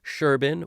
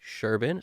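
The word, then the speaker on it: Serban: way you know Sherban which I've understood now that's how you pronounce his name Sherban so I'm going to s sort of start doing that and be the only one on the internet who's probably pronouncing his name in that way but you know it's sh because of where he's from in Romania so the idea here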